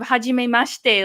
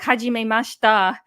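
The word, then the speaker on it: はじめまして: My mom said, instead of hajime mashite, like hajime mashita.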